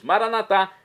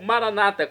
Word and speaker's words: maranatá: E agora eu clamo do aramaico, dialeto de Jesus, maranatá, como dizemos nós católicos, ou maranata, como dizem nossos irmãos separados das comunidades evangélicas ou protestantes. Não importa pronúncia, o significado é o mesmo.